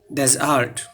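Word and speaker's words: desert: আছে প্রথম শব্দটা হচ্ছে ডিই এসই আরটি আমরা উচ্চারণ করি ডেজার্ট না এখানে দুইটা অংশে বাক্যতে প্রথমটা হচ্ছে ডস পরটা হচ্ছে আর্ট ডজার্ট ডেজার্ট হচ্ছে মরুভূমি তারপর নিচের শব্দটা এখানে পার্থক্য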